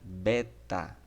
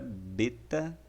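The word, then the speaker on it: βῆτα: A segunda letra é a letra beta, ou beta, tá? Beta. Nós temos aí o beta, ele é escrito aí, ele tem a pronúncia, né? Como B mesmo, do nosso português. Exemplo disso em bondade.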